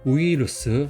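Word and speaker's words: ウイルス: 이따이 노도하면 아픈 목 그다음에이 밑에 부분 이거는 뭐죠? 우이루스라고 읽어요. 우이루스.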